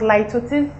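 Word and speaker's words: litotes: of metronomy the next one is ltis it's pronounced ltis now ltis is the use of a negative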